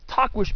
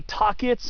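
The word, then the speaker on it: Tahquitz: hiked since October of 2017 and that was Tquish Peak and uh yes that's supposed to be how you pronounce it. It's spelled T ah q ui tz. A lot of people say tits or twits or titets or tuckweets but I remember reading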